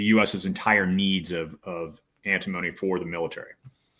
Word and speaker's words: antimony: They also have a very large what's it's I always mispronounce it. It's antimony.